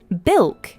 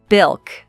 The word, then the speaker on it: bilk: I agree with that bil is a single syllable word and we say it by stressing it bil bil all right let's look